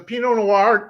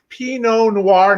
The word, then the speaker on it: Pinot Noir: This is a Pinot Noir, not Pinot Noir, not Peanut Noir.